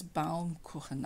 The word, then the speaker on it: Baumkuchen: I pronounce that word incorrectly in my previous video. I pronounce it like an English speaker such as myself would assume it sounds like. I say cushion, so it's Baumkuchen.